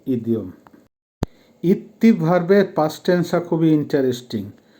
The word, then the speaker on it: идти: দেখেন প্রথম ভার্বটা হবে ইত্তি উচ্চারণ হবে ইত্তি যখন পায়ে হেঁটে যাবেন